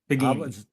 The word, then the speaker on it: Peghiny: I don't M it bini bini yeah it's Italian yes mine's B is